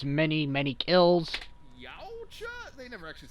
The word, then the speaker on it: Yautja: It's pronounced Yautja, Wiz. You are a blaspheming heretic, and you should be chastised for your fucking unknown knowledge for not knowing how to pronounce that species name.